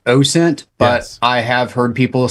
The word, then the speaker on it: OSINT: open source intelligence I I do subscribe to the train of thought that it is pronounced oh sent but I have heard people say oscent yeah because when I